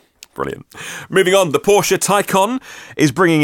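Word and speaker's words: Taycan: from mission e to Tyco on ta Y CA n pronounced icon we have no idea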